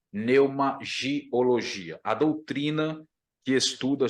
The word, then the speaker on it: pneuma: conhecida com pneumatologia tá o p é mudo na palavra no termo grego não é pneuma é Neuma Tá mas o vício de linguagem nos leva sempre a usar o p nesse termo Tá mas o correto